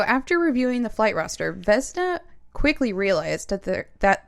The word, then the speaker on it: Vesna: heard this name before but it's pretty Vesta Vesna it's v s n a vessna vessie that'd be a cute nickname Oh vess